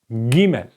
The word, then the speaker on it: gimel: um consonant is called gimel gimel okay you write it like that Gmail it's like when you say I'm going going so this is the G sound going and in writing form